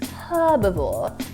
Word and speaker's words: herbivore: But what I find interesting is words like herbivore, herbaceous. Yes. Those words are pronounced with the H out here.